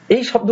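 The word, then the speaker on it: pseudo: পি এস ই ইউ ডি ও এটা হচ্ছে সিডো হয়ে গেল সিডো কিংবা পি এন ই ইউ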